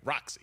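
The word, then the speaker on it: Rocsi: I was about to say it's spelled with an S, and I wanted to make sure I say it right. Roxy.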